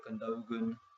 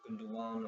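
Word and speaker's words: Gündoğan: Costa, who, you know, names obviously to rejoin David Moyes, Ika Gundogan or Gundogan or Gundo, I don't know, I think it's Gundogan, I believe is how you pronounce it, and Fabio Coentrao.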